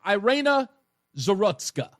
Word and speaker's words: Iryna Zarutska: That's how I pronounce her name. Iryna, that's her name. Iryna Zarutska.